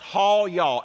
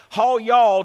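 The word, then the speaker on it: היה: it is the hebrew word ha yaw h-a-y-a-h it is pronounced hall y'all h-a-w-y-a-w hall y'all does not mean was are you ready to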